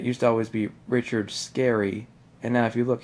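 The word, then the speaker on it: Scarry: it always was richard scary but it's yes it's pronounced scary but it's two r's you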